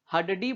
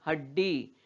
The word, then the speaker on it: हड्डी: हड्डी, हड्डी बोलते हैं क्या इसको? नहीं, हड्डी। क्यों? क्योंकि इस ड के नीचे हल चिन्ह लगा है और इस ड का उच्चारण आधा ही हो रहा है।